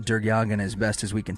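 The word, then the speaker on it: DerYeghiayan: Sterling um agent during again it's d-e-r-y-e-g-h-i-a-y-a-n is pronounced durgyagin as best as we can tell starts to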